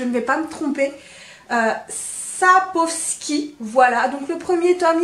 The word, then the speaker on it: Sapkowski: Attention à la prononciation, je crois que je ne vais pas me tromper. Sapkowski.